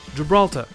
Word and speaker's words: Gibraltar: Sur Bangalore, c'est la première syllabe qui est accentuée, et sur Gibraltar, c'est la deuxième, donc ça donne Bangalore et Gibraltar.